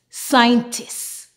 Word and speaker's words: scientist: s in seen Saro scenario s Ein sciencetist scientist sers scissors now in these two words the C is silent and the S sound is shh for